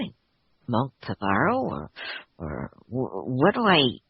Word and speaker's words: Pavaro: Well, first of all, that last word after my name, or sometimes before my name is pronounced Pavaro, and then Bhikkhu is sort of means monk, I guess you could say.